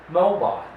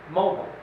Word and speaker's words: mobile: are a few more this word an American you say mobile British is mobile mobile so that's the difference